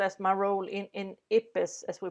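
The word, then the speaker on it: IPBES: researcher and also as my role in in ipis as we pronounce the interdisciplinary panel by diversity and ecosystem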